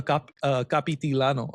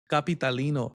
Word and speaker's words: Capitalino: anything, it would be a capitilano. How do you say it? Capitalino.